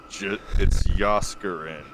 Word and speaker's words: Jaskarin: It's Yaskarin. Jaskarin? That's it. It's gotta be a J as a Y sound.